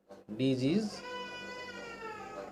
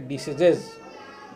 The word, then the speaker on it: disease: d is EI SE disease many people pronounce incorrectly diseases diseases is wrong pronunciation disease is the correct pronunciation disease of their parents they belong to the dirty world of crime for CR a.m.